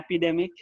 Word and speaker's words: epidemic: like to repeat that epidemic please epidemic epidemic epidemic I got that yeah pandemic yes so second syllable checks the stress right yeah epidemic epidemic